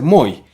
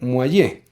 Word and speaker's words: Moyë: pronunciar el apellido muelle algunos corrigen e insisten en que deba ser muy otros dicen que debe hacer moix y otros que debe hacer moix a nuestro juicio y pues podemos demostrarlo realmente la forma de pronunciarlo de ser muelle porque en francés pues al deletrear el nombre m o y con diéresis queda como m o doble y una e y el mismo juan